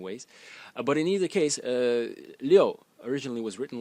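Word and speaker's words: 六: It is pronounced liu, liu, in the 4th tone, and the original character was written something like this.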